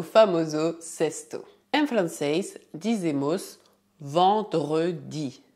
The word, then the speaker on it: vendredi: Em francês, dizemos vendredi. A combinação E mais N faz o som nasal en. Portanto, dizemos vendredi. Se você tiver dificuldade para pronunciar essa palavra, não hesite em dividí-la em sílabas.